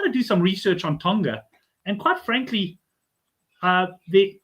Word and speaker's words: Tonga: They pronounce it Tonga. I remember not Tonga say um they obviously get starved of.